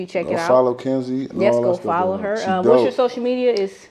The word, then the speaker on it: Kynzi: Follow Kynzi.